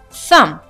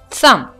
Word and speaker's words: thumb: The first one, climb, climb, dot, dot, thumb, thumb. As you can see, in the word climb, I'm not pronouncing the last letter B.